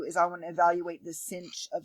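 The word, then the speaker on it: sinh: H for hyperbolic trig which we literally pronounced as cinch okay I know it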